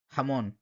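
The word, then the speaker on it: jamón: এবার ক্যারিবিয়ান স্প্যানিশে যেমন Cuba deer বা ডমিনিকান রিপাবলিক ভেনেজুয়েলা এখানে কিন্তু এই যে জি লেটারটা এটা কিন্তু বাংলার হ প্লাস একটু বেশি ফোর্স হ যেমন হামন খরখে হতা এরকম মানে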